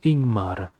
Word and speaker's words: Ingmar: usgrim ok i'm sorry ingmar is pronounced ingmar leading with a vowel sound i okay the light